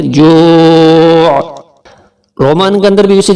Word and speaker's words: جوع: الذی اطعمہم من جوع. یہاں واو ساکن سے پہلے پیش ہے جوع, ہم اور من پہ گنا, جو کو تھوڑا سا کھینچ کر, اور آخر میں عین کی آواز نکالیں گے جوع.